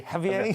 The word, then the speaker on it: Xavier: Whereas yours is Xavier, right? Yeah, so mine's more of a middle class. Javier. Javier. Yes, that's how we pronounce it around our household.